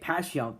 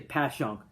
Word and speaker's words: Passyunk: I say Passyunk. There's an H in there. And then I think if you're like a local South Philly person born and bred, I think you just say Passyunk. 2 syllables versus 3.